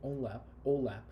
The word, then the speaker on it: OLAP: Whereas online analytical processing, which I pronounce it usually OLAP, is an analytical service